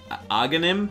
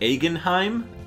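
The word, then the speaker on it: Agahnim: I always say his name wrong. I always used to call it, I think it's... Aghanim? Aghanim, but I always called it Agenheim.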